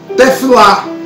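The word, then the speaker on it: תְּפִלָּה: E a palavra oração no hebraico aqui, você na sua etimologia, você pronuncia tefilá, ok?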